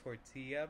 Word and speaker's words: tortilla: The burrito are large flour tortillas filled with rice. So it's actually tortilla because it's a Mexican word. Oh, tortilla? Yeah, the double L is like a Y sound.